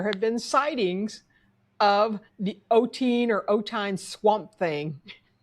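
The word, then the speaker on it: Ottine: don't know the pronunciation Oteen, O'Tain? I I call it Oteen but maybe it's Ot- O'Tain, O'Tain, E'Tain? I don't know. O'Tain. O T T I N E.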